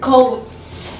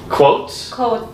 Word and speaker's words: quotes: First three favorite quotes. Coats? Yeah. Like jackets? No, coats. Quotes. Coats. What are you saying? Coats. Spell it.